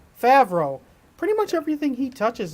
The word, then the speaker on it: Favreau: as for is that am I saying it right Fred no that's not right favro pretty much everything he